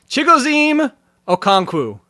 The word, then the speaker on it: Chigoziem Okonkwo: Just because I know how to pronounce his name, and I like to say it. So Chigoziem Okonkwo.